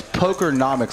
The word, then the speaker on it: Pokernomix: But So it's Pokernomix, like economics, Pokernomix. Pokernomix.